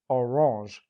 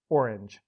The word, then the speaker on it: Orange: From there, it was just a hop, skip, and a jump to the town's present-day name, Orange, or, as English speakers tend to pronounce it, Orange.